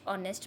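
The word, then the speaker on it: honest: ही is dash ऑनेस्ट मैन। ही इज़ एन ऑनेस्ट मैन। मैंने बताया ऑनेस्ट एच जो है वो साइलेंट है।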